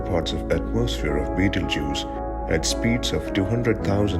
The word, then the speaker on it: Betelgeuse: will eventually blow up a certain beetlejuice sometimes pronounced beetle juice and also known as